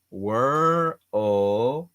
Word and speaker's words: world: Then your tongue goes forward, L, World, so it's three difficult little sounds, world. Then it shoots to the front and then it taps your palate, world. That's the correct way to pronounce world, world, world.